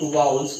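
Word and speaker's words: vowels: देखिए characters that act like वाउल्स is called semi वाउल्स, यहाँ पर क्या है वाउल्स, ठीक है, इसको वाउल्स बोलते हैं, नॉट वोवेल, ठीक है। इसका जो प्रोनाउंसिएशन होता है वो क्या होगा आपका वाउल्स।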